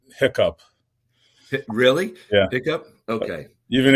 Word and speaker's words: HICP: Well, they say hiccup. Really? Yeah. Hiccup? Okay. Even HHS. Even HHS calls it hiccup.